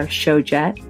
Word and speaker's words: Tjoget: Before we go, as promised, if you're heading to Stockholm, Mia's favorite bars at the moment are Showjet, which is spelled Tjoget, and Bar Homage.